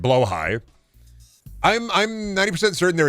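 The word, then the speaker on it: Blåhaj: All right, I say that wrong. How is it pronounced again? I don't have one, but I want one. Bad. Fair. Blowh high. Blowh high. Right. Blowh high.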